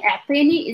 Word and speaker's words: أعطيني: Try to notice as I'm pronouncing it. Atini. Atini. Kahwa. Normal. أعطيني قهوة normal. أعطيني. أعطيني. Give me. And try to emphasize the first part.